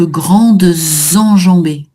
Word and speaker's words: grandes enjambées: Dans ces cas-là, tu es obligé de faire la liaison. Donc, grandes enjambées.